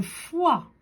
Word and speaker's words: foie: Alors j'ai un E que je ne prononce pas, hein, il est muet. Le foie.